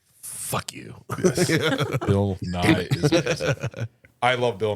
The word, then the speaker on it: Nye: But is that how it's actually pronounced? Yes. Bill Nye.